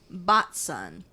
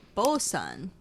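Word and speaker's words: boatswain: a little pronunciation guide down here it says botson but it's spelled bosan just bosan but it's spelled bat Swain it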